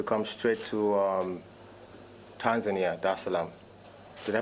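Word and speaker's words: Dar es Salaam: the seventh to come straight to um tanzania da salam did i pronounce that right yes okay cool that islam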